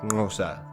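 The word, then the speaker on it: Xhosa: the local San people hence kosa is usually pronounced something like Nosa but I think it's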